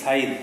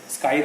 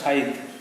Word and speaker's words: scythe: অ্যান্ড my father will sing দ্য সাইদ song, উচ্চারণটা SCYTHE, সাইদ। সাইদ মানে কাস্তে, স্কাইদ বলা যাবে না, সাইদ।